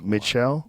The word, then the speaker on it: Michel: The hip-hop world was shocked when Pras, how do you say his last name? Mikel or Michael. Michelle? Yeah.